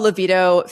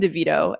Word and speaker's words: Levito: Isabelle Levito finished 12th. Also, I said her name wrong last week. I kept saying Devito, like Danny DeVito, which was really weird of me.